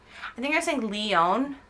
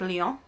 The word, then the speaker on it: Lyon: My friend here told me I was pronouncing it wrong in English because I think I was saying Lyon, but I'm trying to say it more French, like Lyon.